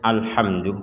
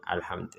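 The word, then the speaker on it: الحمد: Jangan sampai dipentalkan alhamdu.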